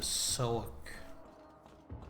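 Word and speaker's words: Southwark: We are heading into Soak, which I think is how you pronounce that, even though it clearly says Southwork, which means that that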